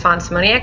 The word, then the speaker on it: Fawn Szymoniak: she has to say hello my name is Fon simonia I go by the pen name online of